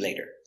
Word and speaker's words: later: tea we can eat later later we have the t between two vowels we pronounce it like a d later later we can